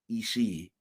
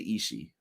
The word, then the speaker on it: Ishii: the Stone Pitbull, Tomohiro Ishii. And much love to my guy, Brian Williams, who corrected me on this because I used to say Ishii all the time, but we believe it is pronounced Ishii.